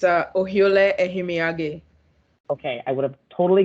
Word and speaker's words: Ohiolei: to screw it up so chelsea go ahead pronounce her the last name for me please it's a ohiole okay i would have totally got that wrong